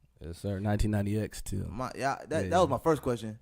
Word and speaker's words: 199xTil: Yes, you gotta pronounce the X. 1990X too.